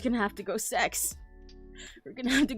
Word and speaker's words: CEX: Yeah, it's called CEX and it's it is pronounced as sex technically in their ads and stuff.